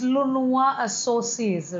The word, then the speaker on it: lenoirassocies: I'll spell it for you once you've said it. So it's I know it's launoisassociés, right, .com.